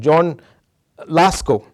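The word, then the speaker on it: John a Lasco: a polish reformer named john lasco that's how you say it it's an anglicized way of saying a polish name what is interesting i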